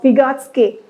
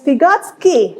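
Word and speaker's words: Vygotsky: believe you are aware with the name of pigotsky that's pigotsky nazi godskai even though it's sky pronounced at the back pigotsky let's see based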